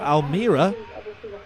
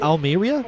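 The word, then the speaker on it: Almería: got another ryanair from almira almeira almeria is how you say it i say almeria almeria that i think that's probably right to be honest and that's on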